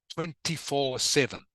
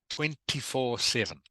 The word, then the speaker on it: 24/7: the way, kakzung, here, this is pronounced 24/7. 24/7. Yeah, okay. Okay, just 24/7. 24/7. It just means it is a way of saying all the time. Means all the time. Okay, it is short for 24 hours a day, 7 days a week. 24/7 is how you pronounce that.